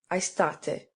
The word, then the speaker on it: aestate: A Latin word has as many syllables as it has vowels and diphthongs. Thus, aestate has 3 syllables.